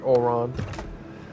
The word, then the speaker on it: Oron: That's actually the proper way to say my name, but you know, I just kind of let it rock.